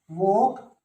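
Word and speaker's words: walk: तो तुम यहां क्या सीखे, तुम यहां ये सीखे कि एल साइलेंट किस किस वर्ड में रहता है, बाम, पाम, टोक, वॉक, आर्म्स, चौक और काम, लै नहीं है किसी में।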